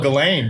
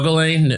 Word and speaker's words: Ghislaine: Hey, I didn't know Ghislaine was spelled like that. Like, my goodness. I didn't know there was an H in there. There's 3 G's. The H is silent.